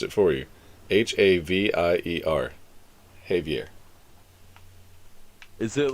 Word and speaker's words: Javier: See, he even pronounced it for you. Havier.